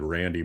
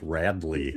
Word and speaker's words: Radley: Oh, I just I'm calling his name wrong. I think I said Randy Meitzker. It's Radley.